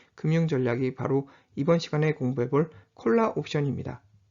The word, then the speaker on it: collar: 용도로 디자인되는 한편 최근에는 옷깃을 의미하는 표현의 카라 우리가 일상생활에서 셔츠카라 오카라라고 부르는 카라의 정확한 발음은 콜라이며 바로 이러한 콜라의 의미를